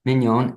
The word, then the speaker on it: Mignon: guests today, and they are Mark Woodward, Mars, pronunciation last name Mars, so I get it right, Mignon. Mignon, and Mike Au.